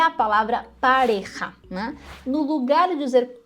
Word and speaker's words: pareja: que é a palavra pareja né No lugar de dizer pareja que significa casal dupla hum a pessoa pronuncia Parreira percebeu a diferença parja primeiro R depois o j e Parreira nesse caso